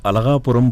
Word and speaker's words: Alagapuram: When you hear Allahaguram pud any uh Tamil speaking person would say ah alagapuram pud the imagination is cows